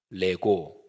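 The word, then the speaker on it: λέγω: 아멘 레고 이렇게 됩니다 레고 이거는 헬라어로 내가 말한다 이런 동사입니다 뭐 애들 장난감 을 내고 하고 발음이 어떻게 똑같아서 재미있는데요 그런데 그 앞에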